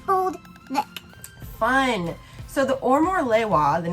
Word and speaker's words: Omolewa: says on the website, is pronounced Omolewa. Omolewa.